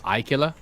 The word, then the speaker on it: Aquila: caution, So, Totally Not Darj asks, please pronounce the following: Aegis, Idris, and Aquila. It's Aegis, Idris, Ikilla.